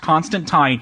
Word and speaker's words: Constantine: I know they call him Constantine, but I want to get that out of the way, or else some fan will correct us. It's actually pronounced Constantine.